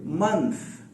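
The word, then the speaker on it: month: है इस सिलसिले में कि मंथ बोलते हैं, ये थ नहीं है, मंथ, ठीक है ना। वो थ की आवाज आखिर में आ रही है तो आप सबसे पहले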